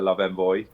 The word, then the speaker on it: Love Envoi: do they stable pronounce because a lot of people say love Envoy love envoir yeah we've always called uh the love Envoy um and haven't been corrected uh so uh that's